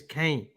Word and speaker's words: Caen: You don't say can, do you? Like can of beans. It's Kane. Caen. Oh, come on, guys. I'm not even taking the piss now, but can someone tell me how you pronounce Caen? Kane. It's Kane. It's not can, is it? Cans would be like can, Canes, but this team was called Kane.